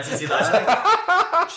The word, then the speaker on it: T.T. Latte: A TT latte? That's my drag name also. TT latte? Oh my God, yes! But pronounce it's just the letter T.